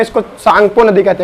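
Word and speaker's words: Tsangpo: सांगपो English में लिखते हैं तो टी से स्टार्ट होता है ना। हिंदी में कहोगे सांगपो, है ना, टी साइलेंट होता है।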